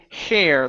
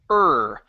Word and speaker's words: her: right now you're saying hair like on top of your head that is hair okay instead of hair it's her her this is an R vowel her okay hair mother